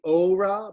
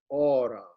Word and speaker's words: aura: of that as well the o of aura should not be ora but aura and the stress is on the first syllable aura and not aura it's not a diphthong it's in all okay